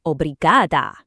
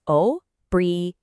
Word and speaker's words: obrigada: And for the women, your version is obrigada. It's that final ah sound that makes all the difference. The pronunciation is obrigada.